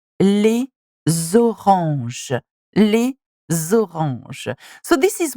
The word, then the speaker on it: les oranges: We would say les oranges. Les oranges. So this is what it is. We're pronouncing the last letter of les and the beginning of orange. And that's how we make the liaison.